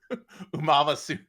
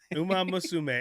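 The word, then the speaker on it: Uma Musume: I got to say, she really she really butchered pronunciation of Uma Masume. Uma Misum.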